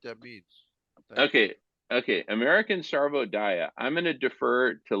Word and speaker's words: Sarvodaya: But it's called, drum roll, American Sarvonaya. But Oh, it's Sarvo Gaia. It's a D, not an N. it's Okay, Sarvonaya. Sarvodaya.